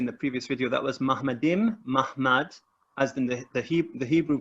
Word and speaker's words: Muhammad: It's pronounced Mahmad, but it's actually spelled Muhammad.